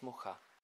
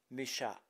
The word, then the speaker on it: Mucha: Théâtre de la Renaissance, his name is known worldwide in the French pronunciation as Mucha, but the original version of his name is Mucha.